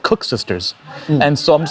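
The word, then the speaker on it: koeksister: Like what's a cook sister? It's more. Am I even pronouncing it properly? Cook sister. Cook sister. So so. Try saying it in an Afrikaans or Dutch accent, right? So it's cook sister.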